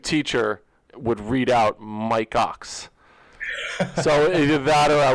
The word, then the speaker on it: Ochs: So it's pronounced, so I'm glad we were able to qualify that when we started.